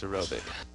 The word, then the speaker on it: aerobic: They usually say Arabic fish, but it's aerobic.